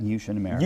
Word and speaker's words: Yushin America: the factory floor at, how do you say it? Is it Yushin America? Yushin America.